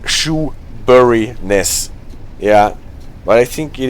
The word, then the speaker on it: Shoeburyness: So it's Shoebryness, or even only Shoebury without the ness.